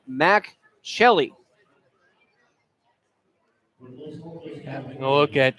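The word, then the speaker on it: Mack: For the first baseman, first name is spelled M-A-C-K, so no, it is not Mark, it is Mac.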